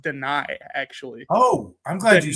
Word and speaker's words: Dani: It's pronounced Dani, actually.